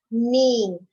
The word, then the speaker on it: knee: When you say knee, you will not hear the sound of K.